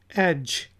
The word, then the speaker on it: edge: फिर वर्ड है EDGE, एज। एज, एज किनारों को कहते हैं, जिससे यार छत के एज से हट जाओ, छत के किनारे से इधर आ जाओ, तो डी साइलेंट है, एज।